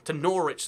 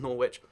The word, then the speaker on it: Norwich: This is Norwich, not Norwich. And the reason for that is not really a great one, to be honest. It's just language evolved and people stopped saying the W in there, even though they say it in the South one.